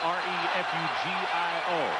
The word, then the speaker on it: Refugio: 5'9", 180 pounds from Refugio, it is pronounced. It is spelled R-E-F-U-G-I-O, Refugio, Texas.